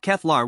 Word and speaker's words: Keflar: His roommate's name was Keflar, pronounced Keflar with emphasis on the first syllable.